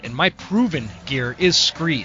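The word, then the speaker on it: Skre: And my favorite and my proven gear is Scree. Scree is spelled S-K-R-E. It's kind of a play on the word from Scree Rock found at the bottom of a cliff face or something like that, and they changed the name.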